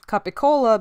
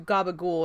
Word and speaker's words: capicola: early 20th century and in southern Italy sometimes you kind of drop the last syllable on the onwards so capicola became a cup to colo became cut to coal and that